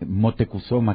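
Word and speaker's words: Motecuhzoma: él Cómo era realmente motecuzoma que era de hecho la la pronunciación nahat de su de su nombre de este gran tlatuani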